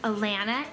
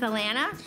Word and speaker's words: Alana: Because she's yellow, and if you didn't know, my name is Alana, and do you know what rhymes with Alana? Banana!